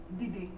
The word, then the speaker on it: didi: So, when he says Didi, it's la, like low tone. So this command is Didi in all green because both syllables are low.